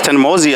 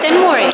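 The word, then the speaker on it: Thenmozhi: Maybe I pronounced right. It's Tenmori. Yeah. Thanmori? Yep. It's Thanmozi, I think. No, Tenmori.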